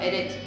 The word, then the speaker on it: eretz: Tierra significa eretz, acento en la primera.